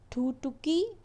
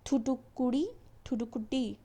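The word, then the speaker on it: Thoothukudi: ठीक है, अब इसके बाद पढ़ना है हमें थुटुकी फाइंडिंग इंक्वायरी रिपोर्ट। तो ये प्रोनाउंसिएशन आपको करेक्ट कर लेना है, थुटुकुडी फायरिंग इंक्वायरिंग रिपोर्ट जो भी है।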